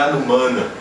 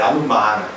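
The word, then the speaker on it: anumāna: Anumana não é Anumana, como o brasileiro nasaliza muito na sua pronúncia, é Anumana.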